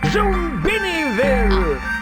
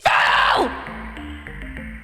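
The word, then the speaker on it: Zoombiniville: Ziniville. You didn't say it properly. It's Zombiniville. That's how you're meant to say it.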